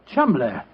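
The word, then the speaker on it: Cholmondeley: Being an American, he had no reason to know that the name Chuml is in no way pronounced the way it is spelled. Oh, Joe, I never thought of that. Chumlay.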